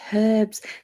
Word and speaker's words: herbs: whatever and herbs yeah it's herbs there's a her there's a her in herbs feel from getting me